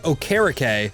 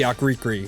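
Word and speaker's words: Okereke: after that we get Bobby ocarake I I guess I've been saying it wrong forever because I always call him Bobby akri okay okay anyway so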